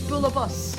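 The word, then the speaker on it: bualadh bos: And yeah, if you are wondering how to pronounce that, it's uh it's bulabus. Bulabus. And that is how you say that is how you say applause in Irish.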